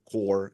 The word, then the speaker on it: Kore: I build in and I call it core Nation core spelled with k k o r e it's a similar meaning